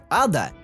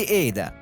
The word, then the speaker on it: Ada: также встречаются некоторые споры Как правильно произносить её имя ада или всё-таки эйда так вот правильно и так и так зависит от региона по-нашему ада по европейскому эйда вот с фамилие всё